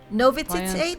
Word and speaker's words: novitiate: Novitiate? How do you pronounce it? Novitiate.